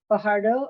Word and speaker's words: Fajardo: today I have the pleasure of introducing Fajardo of zenial digital did I pronounce that correctly yeah you do okay good